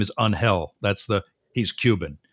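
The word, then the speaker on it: Ángel: say hey congratulations on his actual name is unhel that's the he's Cuban right and it's actually pronounced unhel uh and that's that's the joke is that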